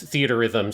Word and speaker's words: Theatrhythm: So it's theaterism seems to be probably the best way to pronounce it. Okay, because the R is just shared between the two words, and that's what's confusing.